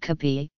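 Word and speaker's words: kapé: options to take with kabhi which is the Filipino pronunciation of cafe breads and pastries like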